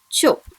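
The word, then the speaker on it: ちょ: And when chi combines with small yo, it is pronounced as cho. I'll read it once again for you. Kya, kyu, kyo. Sha, shu, sho. Cha, chu, cho.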